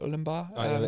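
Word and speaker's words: Ourimbah: They did a Ulimbar. Is that how you say it? Ulimbar. Ulimbar, yeah. Yeah.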